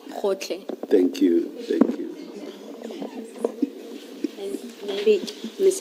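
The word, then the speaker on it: Gotlhe: Can someone who is Sotho Tswana speaking please pronounce that for us? Okay. Advocate Powe. It's Khotle. Khotle.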